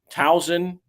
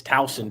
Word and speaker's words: Towson: of get mode's uh tennis play real quick thousand to sound it's not it's not in maryland man it's towson tau is pronounced town t-a-u-s-o-n minus 110 is a winner